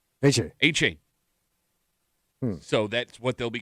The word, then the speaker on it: Achane: The way it's pronounced, it's not Etienne, it's Achane. Achane.